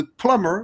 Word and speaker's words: plumber: Le plombier ou de plummer. Oui, on ne prononce pas le B.